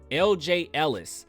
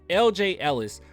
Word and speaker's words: LJ Ellis: big shout out to lj ellis i want to make sure i say it right because i keep saying ej sometimes i don't know what's going on lj ellis for this wonderful article